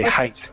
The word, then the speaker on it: height: The analogy with the weight misleads many of us in the pronunciation of this word.